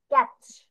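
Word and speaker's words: catch: তারপরে ক্যাচ, ক্যাচ, চ টাইপের হয়ে যাচ্ছে, কিন্তু মাঝখানে দেখো টিটা যে আসছে, এই টি প্রোনাউন্সিয়েশন কিন্তু খুব একটা বেশি তুমি করনি, মানে একদম নাই বললেই চলে।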